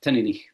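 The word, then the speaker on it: Teaninich: you know, put putting far too much emphasis on the t at the start, te ea as in the drink, but apparently it's tenik. So I'll take the word for it. But anyway, how do you say it? Tenik. Ten. It's almost like it's t i n rather than teen.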